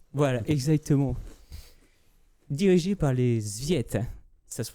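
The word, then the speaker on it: Tsviet: Dirigé par les Zviet. Ça se prononce vraiment comme ça.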